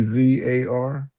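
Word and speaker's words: czar: C Z A R.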